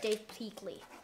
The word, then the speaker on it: Pilkey: Yeah, Dave Pilkey.